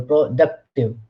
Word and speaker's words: productive: But when we say productive, then the stress is on second syllable, productive.